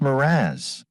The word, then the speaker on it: mirage: "Mirage is pronounced Miraz," said Valancy shortly, picking up her tea and her beans.